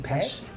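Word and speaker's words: Pesce: How do you pronounce his last name? Pesh.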